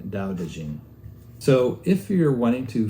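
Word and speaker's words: Dao De Jing: the same thing and they're both pronounced the same way Dao dejin so if you're wanting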